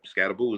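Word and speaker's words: Skattebo: With their with their They have their quarterback, uh Scat- Scat- Scatabou, is that how you pronounce his name?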